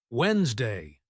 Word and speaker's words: Wednesday: Wednesday. This word looks like it should be wedd, right? Wrong. Native speakers say Wednesday. That first D completely disappears. It's like the letter doesn't even exist.